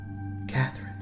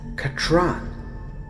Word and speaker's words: Catherine: Katron. He nodded. Catherine. That's a Katron, she said again, placing the emphasis on the final syllable.